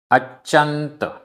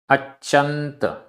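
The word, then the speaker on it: अच्चंत: अच्यंत, आधा चा पूरा चा, अच्यंत।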